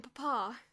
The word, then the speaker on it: Papa: be about my allowance from Papa he accented the second syllable he always send it